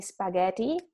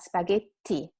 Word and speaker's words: spaghetti: You know that you can't say spaghetti, but spaghetti, because the double consonant requires you to make the sound longer and stronger.